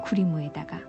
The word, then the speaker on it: 구리무: 크림의 일본식 발음인 구리무에다가 이 둥둥하는 의성어를 합쳐서 만들어진 이른바 동동구리무.